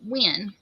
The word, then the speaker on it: Nguyen: And Morgan Mandy said that's their last name, and they pronounced it Win.